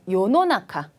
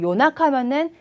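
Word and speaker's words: 世の中: 자, 요노나카. 요노나카는 세상인데 혹시라도 말하실 때 노 빼버리시고 요나카면은 이제 한밤중이 돼버리니까 발음 주의해 주시고요.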